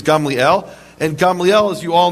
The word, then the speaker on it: Gamliel: A precedent which Rabban Gamliel, you probably thought it was pronounced Gamaliel. The correct Hebrew pronunciation is Gamliel.